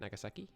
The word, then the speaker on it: Nagasaki: I believe that's how you say it, Nagasaki. Like sake, the drink. Or that's sake. I'm not sure, to be honest.